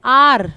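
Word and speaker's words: heir: आर, देखो अब यहाँ पर फिर वही आ गया आर, ये शुरू एच से जरूर हो रहा है लेकिन हम इसे पढ़ रहे हैं आर।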